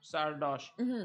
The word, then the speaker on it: Sardoche: How do you pronounce him? Sardosh.